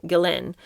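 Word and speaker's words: Ghislaine: Gain Maxwell, who I've called her Gain all these years, but apparently you pronounce her name her name Gillin.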